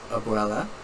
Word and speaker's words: abuela: of Montreal uh and then we have uh Abuela so obviously right that's how you say it